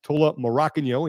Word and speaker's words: Tola Morakinyo: Noah Olson, Tola Morakinyo, and yes, that is the right way to say his name, and he confirms it here.